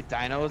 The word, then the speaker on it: dyno: They call it a dino. I don't know why they call it a dino, but that's the term for it.